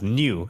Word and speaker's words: Nu: number one new what is V what's v v number V is it's not pronounced as V I believe so does it's that is pronounced as new actually new yeah new 13 oh so it's